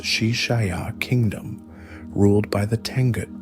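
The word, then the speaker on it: Xi Xia: His first major campaign was launched against the Shishis, pronounced Shishaya Kingdom, ruled by the Tangut people.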